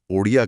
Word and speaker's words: ओडिया: 8वीं अनुसूची में ओरिया भाषा का नाम बदलकर उसके सही उच्चारण के अनुसार ओडिया कर दिया गया।